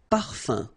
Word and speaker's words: parfum: You don't pronounce the M at all. Un. Okay? So par, fin, parfum. Okay?